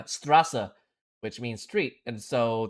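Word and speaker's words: Straße: There's an, okay, well, it has the B in the sign, and that is pronounced with an S in English. Well, in German, I guess. It's Strasse, which means street, and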